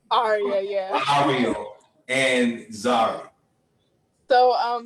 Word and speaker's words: Aria: Ariel? Aria, yeah.